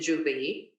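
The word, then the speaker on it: J'ouvert: It's a contraction of jour, which means day, and ouvert, which means open. But here we pronounce it Juve, and it starts early Monday morning before dawn.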